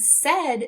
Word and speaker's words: said: a but not today in the word said they're making the sound e as if it were a short e and because of that that unexpected part of this word we need to learn it by heart now the nice thing